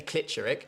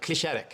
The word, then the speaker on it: Klitscheric: And I know Eurovision fans are going to pronounce it wrong. They're going to say Klitscheric. So, can we just get the pronunciation right now? You say it like Clicheric and Max.